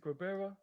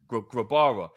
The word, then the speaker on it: Grabara: Kirkland was good, and we had is it Grabera? How do you pronounce his name again? Grabara.